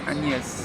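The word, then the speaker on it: Agnès: really pronounce the G when you say it in French. Agnes.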